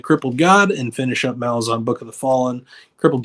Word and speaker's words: Malazan: And I know I'm saying it wrong. It's supposed to be Malazan, but I can't make my mouth do that. So it's always going to be Malazan for me.